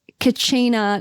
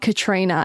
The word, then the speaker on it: Kachina: where she was like, it's Kachina, not Katrina.